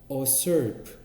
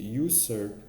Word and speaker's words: usurp: 만약에 이러한 리더가 없애면 the authority of the leaders under them, 그러니까 그들 아래에 있는 어떤 지도자들, 우리 usurp 하면 아니죠, usurp라고 발음해야 되겠습니다. 그래서 usurp 이렇게 발음해야 되겠네.